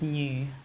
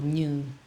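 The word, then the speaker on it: Như: my um, Vietnamese name, which is new, or new is how you say in Vietnamese, NHU.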